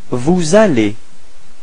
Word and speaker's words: vous allez: Vous allez. So the same thing, the liaison between S and A. Vous allez. Repeat. Vous allez.